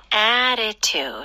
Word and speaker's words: attitude: Attitude. 아하. 발음하기 조금 특이하죠? Attitude도 가능은 하겠지만 중간에 좀 flap 때문에 부드러워지는 것 같아요.